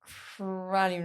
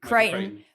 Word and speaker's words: Crichton: spielberg the writer was michael cronin how to pronounce it creighton michael crichton and david cope um